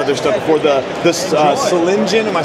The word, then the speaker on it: Solingen: Yeah, we say Solingen in English, and then Zoling.